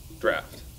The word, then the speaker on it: draught: Draft.